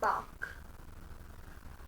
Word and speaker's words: bark: नहीं, R is silent because R is after a vowel. The pronunciation would be bark.